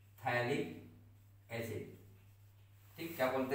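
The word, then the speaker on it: phthalic: तो उसको हम लोग थैलिक एसिड बोलते हैं, क्या बोलते हैं थैलिक एसिड ठीक, क्या बोलते हैं थैलिक एसिड, पी एच होता है नहीं पी टी एच होता है ठीक है थैलिक एसिड।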